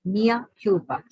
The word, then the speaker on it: mea culpa: Once again, it is written as culpa, C-U-L-P-A, but it is pronounced as culpa, mea culpa.